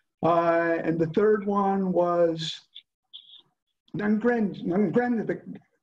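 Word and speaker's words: 'Ndrangheta: the triads, Yakuza, and the third one was Nangrande. How do you pronounce that? Nagrande? Professor Nicaso will know this. Nangrande, yes.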